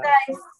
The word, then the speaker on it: exercise: এক্সারসাইজ তাহলে কি হবে? Popular game. এইটার উচ্চারণ কি আমরা একটু দেখি। এক্সারসাইজ এক্সারসাইজ, right? এক্সারসাইজ এক এর মধ্যে হলো জোর, রাইট? এইখানে জোর, স্ট্রেস মার্কটা এইখানে উপরে শুরুতে, ওকে?